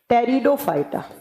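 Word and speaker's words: Pteridophyta: पी से लिखा जाता है जबकि प्रोनाउंस किया जाता है टी से। टेरिडोफाइटा।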